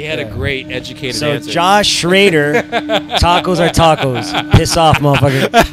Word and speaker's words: Schroeder: schroeder it's um nope he corrected me i've been saying his last name josh have you ever watched this i have been saying his last name wrong for like 10 years it's actually schrader schrader but it is not spelled like that at all yeah i don't know and